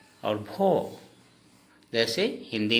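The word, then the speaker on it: ভ: उच्चारण हमेशा अ और ओ का होता है। जैसे हिंदी में भ और असमिया में होगा भो।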